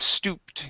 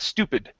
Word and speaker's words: stooped: nice job here with stooped yeah that's stooped and not stupid okay I would hate